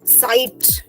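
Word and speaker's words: Zeit: इज यार यार okay then comes the word साइट जेड ई आई टी साइट means time so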